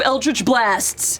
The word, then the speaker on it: Eldritch Blast: 2 Eldritch Blasts come firing Sorry, how's that towards pronounced again?